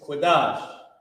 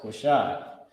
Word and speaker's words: Qadash: And the last one is Qadash. It's locked here. I was about to put Quashai. It's Qadash.